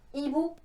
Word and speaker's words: hibou: au début du mot comme dans hibou il y a h mais on ne l'entend pas donc en plein milieu